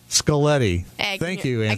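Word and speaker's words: Scaglietti: they still the G is silent scalletti myself and that's Anthony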